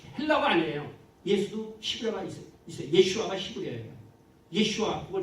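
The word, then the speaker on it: ישוע: 예슈아가 히브리어예요. 예슈아 그거 좀 말씀드릴게요. 조금 자시와. 자슈아가 아니에요. 그건 영어 발음이에요. 영어 그 오역 발음이고 예슈아예요.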